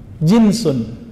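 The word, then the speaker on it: جنس: Jinsun, jins. Pakai jins enggak, Pak? Itu beda lagi ya. Jins itu bacanya ya. Kalau ini jinsun, ja, jim, nun, sin.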